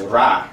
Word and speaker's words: Ra: So the Shen Cartus Ramsey's we have the circle which indicates the sun and that is pronounced as rah which means sun and then we have the